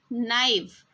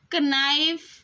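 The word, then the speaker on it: knife: यह देखिए यहां पर के एन आई एफ ई इसको हम क्या बोलेंगे नाइफ इसको कनाइव नहीं पढ़ना है इसको यहां पे जो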